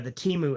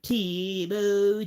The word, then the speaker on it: Temu: And like they changed the pronunciation of the app in the song. The older versions of that ad went Temu, Temu. Now it goes Temu, Temu.